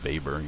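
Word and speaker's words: Weber: and it's properly pronounced Vber. He's u central Europe German descent. Uh the W is pronounced as a V if you're ever in circles where people care about that sort of thing.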